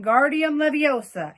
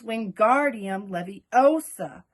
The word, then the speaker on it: Wingardium Leviosa: much more luck when Guardium Leviosa he shouted waving his long arms like a windmill you're saying it wrong Harry heard Hermione snap its Wingardium Leviosa make the GAR nice and long you do it then